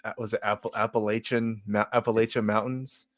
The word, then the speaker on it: Appalachia: If you're from Appalachia, you know that you live in Appalachia and it's pronounced Appalachia.